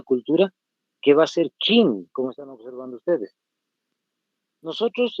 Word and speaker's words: Qin: que va a ser Qin, como están observando ustedes. Nosotros en castellano pronunciamos Qin porque hay una Q ahí, pero en realidad su pronunciación, como están observando ahí entre corchetes, es Shin.